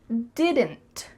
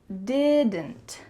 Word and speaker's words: didn't: When native speakers are speaking quickly, we do not say didn't with each sound pronounced. Instead, you're going to hear didn't, didn't. There's a lot going on here in your throat. Didn't, didn't. So that final D is cut short, and the final